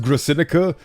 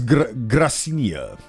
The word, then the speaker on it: Gracinia: I keep thinking it's pronounced Gracinica, but it is Gracinia.